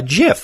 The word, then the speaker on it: GIF: on the internet is called a GIF, like the peanut butter.